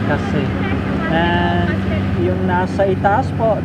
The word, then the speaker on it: Cassis: Actually, it is written as C-A-S-I-S, but they pronounce it as Kasi.